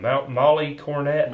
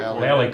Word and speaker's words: Mallie Cornett: I think her name is, how would you say her name? Molly Cornett? Mallie Mallie Cornett.